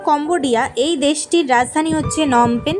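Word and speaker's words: Phnom Penh: এই ক্যাম্বোডিয়া বা কম্বোডিয়া এই দেশটির রাজধানী হচ্ছে নমপেন বা ফিনমপেন। দেখো বানানটাতে লেখা থাকে ফিনমপেন কিন্তু উচ্চারণ করে নমপেন।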